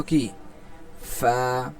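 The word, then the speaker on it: قاف: এটার উচ্চারণের মাখরাজটা বলা হচ্ছে জিহ্বার গোড়া তার বরাবর উপরের তালুর সঙ্গে লাগাইয়া। জিবার্বার গোড়ার উপরের তালুর সঙ্গে লাগায়া উচ্চারণ হবে কি? ক। দেখেন আমাদের কিন্তু উচ্চারণটা ঠিক সেখান থেকে হচ্ছে।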